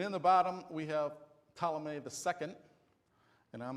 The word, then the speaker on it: Ptolemy: correctly got this right the p in Ptolemy is silent so though that doesn't